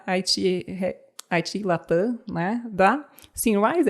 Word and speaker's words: Symrise: E mais recentemente foi, né, a IT Latam, né, da Symrise, é assim que pronuncia?